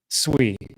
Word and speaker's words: SUI: I also own a big fat bag of sweet.